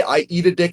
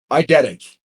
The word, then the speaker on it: eidetic: Did I just say I eat a dick out loud? I wait. Hold on. I eat a dick. How else could you say that word? Pronounced eidetic.